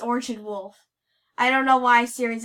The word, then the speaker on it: Orchid Wolf: she will but like or wolf you do not say that that's not how you pronounce it it's Orchard wolf I don't know why